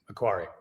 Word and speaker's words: Aquari: Aquari, is that is that how you pronounce it by the way? Aquari. Yeah. Aquari.